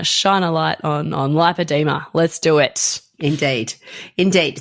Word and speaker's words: lipoedema: you may know that I'm pronouncing it and you are to me lipoa like lipo suction as opposed to lipedema which you know you're